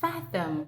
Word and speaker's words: fathom: those that want to use that word say faom say okay guys so I'm really sure you